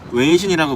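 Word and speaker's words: 微信: 중국어 발음으로 웨이신이라고 불리는데 한국의 카카오톡이랑 같은 개념이라고 보시면 됩니다.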